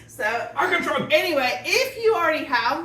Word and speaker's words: Ankarsrum: So, anyway, You gotta say it like they do. Ankarsrum. Ankarsrum. Ankarsrum. So, Ankarsrum.